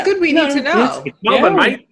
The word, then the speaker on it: Melbourne: It's Melbourne, mate. It's Melbourne, mate. I'm like, okay, that's what I said. I just pronounced it different.